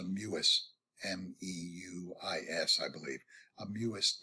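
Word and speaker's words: Mewis: Here's something, I believe it's pronounced a Muis.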